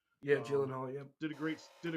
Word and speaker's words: Gyllenhaal: until it got to the end uh Jake Gyllenhaal I think that's how you actually say his name yeah Gyllenhaal yeah did a great did a great job